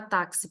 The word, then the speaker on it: táxi: som não é igual na palavra táxi por exemplo nós temos quatro letras mais cinco fonemas porque o X tem som de KS diferente da palavra próximo